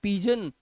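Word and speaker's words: pigeon: ना उसको बोलते हैं पीजन और जी के बाद ई है देखो यहां पर तो इसका उच्चारण हो गया जा का तो आप यहां देख सकते हो जा का उच्चारण है ना तो ये हो गया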